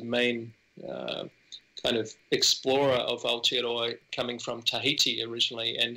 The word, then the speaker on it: Aotearoa: Now, I'm going to need your help pronouncing this, Jeremy, but Aotearoa? Yeah, Aotearoa.